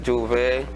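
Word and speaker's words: J'ouvert: Well, for me, I can say Juve, the whole meaning behind Juve, the word Juve itself, first of all, it is spelled Jouvert, or it can be spelled Jouvay,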